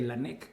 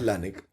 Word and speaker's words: Lanek: precursor o como premisa se pronuncia lanc o lanc la empresa es una buena pregunta porque nosotros hicimos lanec pero ahí me puedo ir por el lado de dónde viene lanec viene de René lanec que es otra un apellido ahí les puedo contar después cuando entremos más por qué nos llamamos así Y ese sí creo que se pronuncia lanec Así que un poco a gusto consumidor pero en general lanec hasta el anex no han